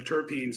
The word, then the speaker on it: terpene: I I pronounce the the the long e, the tarpen.